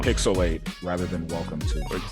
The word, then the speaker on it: PixelHate: the show this is pixelate where the H is silent but the hate is real okay start the slander